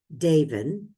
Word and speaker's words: Davin: So we're going to be hearing from Morgan Davin. I was reminded it rhymes with Raven.